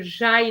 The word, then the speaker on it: j'aille: Jai wasn't pronounced properly, and you said les avoir. There's no A there, okay? Que j'aille les voir, so that I can go and see them, okay?